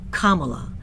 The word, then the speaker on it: Kamala: This is what she says, quote, "Before we get started, my name is pronounced Kamala, like the punctuation mark.